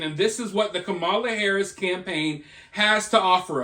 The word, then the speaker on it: Kamala: I've got another word with 3 syllables. It's Ka-ma-la.